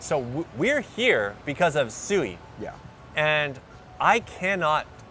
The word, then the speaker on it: Sui: because every time when we first started pronouncing it, we said soo-ee, right? Yeah. And they said no, it's Japanese, it's swee.